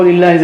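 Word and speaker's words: لِلَّهِ: Okay, this is how lillah is written. Just make sure you don't mispronounce it. So when you see kasra here, it is lillahi.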